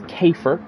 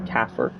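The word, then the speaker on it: Käfer: I think it's Kafer on Rob's car, which I believe I've been calling Kaffer.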